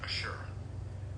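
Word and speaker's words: עשר: That word is asher. It's spelled Ein, Shin, Resh.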